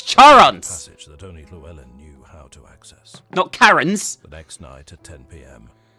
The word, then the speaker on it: Charon: the pronunciation of Charon it's definitely pronounced Charon it's not pronounced Karen okay that is impressive